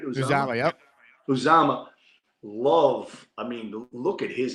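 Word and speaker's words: Uzomah: Uzama, yep.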